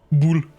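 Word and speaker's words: boule: You can go back to the fact that it's pronounced bull.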